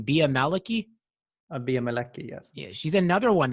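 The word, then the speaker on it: Bea Malecki: Bia Maliki, yes.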